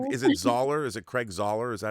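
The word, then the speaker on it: Zahler: Is it Craig Zoller? Is that how you pronounce Zoller's last name?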